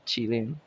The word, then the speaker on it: Qilin: Pronounced Qi Lin. Lin. Qi Lin.